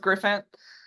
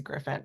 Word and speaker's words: Grifant: starting off everybody has like different ways of pronouncing it usually I go with Griffin um yeah Griffin is my pen name Griffin yeah okay so